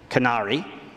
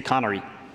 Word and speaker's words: Qunari: some people will say Qunari and some people will say connery again my my linguistic skills are limited but those are two different ways you might hear this same word pronounced now with my biases when